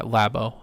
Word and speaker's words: Labo: Yeah, Labo.